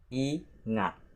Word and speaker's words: ingat: Ingat. Ingat. Ingat. There are 2 syllables in this word, which is I, the first syllable, and ngat, the second syllable.